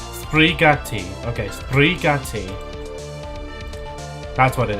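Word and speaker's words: sbrigati: And again, if I haven't said it already, they they are like Spanish uh pronunciation or not Spanish, Italian, sorry. How to say hurry up in Italian? Sprigatti. Sprigatti.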